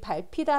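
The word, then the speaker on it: 밟히다: 보면 발피다 나와 있는데이 발피다 아는 발음을 보면이 비읍 히이 만나서 읍으로 소리 되는 거센소리되기 현상이 일어나고 있어요 자이 거센소리되기 현상은 여러분 두 개의 의문이 만나서 하나가 되는 축약 현상입니다 그러면 학생이가 어떤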